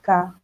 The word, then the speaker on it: cas: So some students had the CAS, which is case, that's the case, and would say CAS because they saw the S. Okay, so you need to remember that c'est le cas with the S, but CAS, okay?